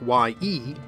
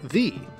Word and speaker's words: ye: So what looks like y-e, ye, was actually thorn-e, the. So it should really be pronounced the old shop.